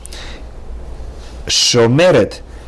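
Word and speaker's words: שׁוֹמֶרֶת: Shomeret has 3 syllables. Sho-me-ret.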